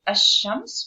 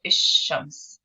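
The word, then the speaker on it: الشمس: So if you want to say the sun, we say ash-shams or ish-shams.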